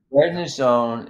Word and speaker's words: prednisone: all right weapons man says any comments on bread Ness Zone is that how it's pronounced yeah prednisone is not used to raise hemoglobin prednisone is